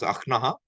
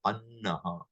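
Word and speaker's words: अह्न: Don't pronounce akhnaha, say annaha. Annaha or annaha. That na and ha, ma and ha, they will have a opposite order in writing and in pronunciation.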